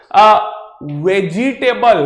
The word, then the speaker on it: vegetable: वेजिटेबल हम बोलते हैं, वेजिटेबल, आई am eating a लॉट ऑफ वेजिटेबल्स, वेजिटेबल्स नहीं होता मेरे भाई, इट्स वेजिटेबल, ऑलराइट, द आई और द E there is silent, it's वेज एंड टेबल, इसीलिए हम बोलते हैं